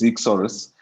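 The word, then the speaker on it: Eeksaurus: It is Ichsaurus.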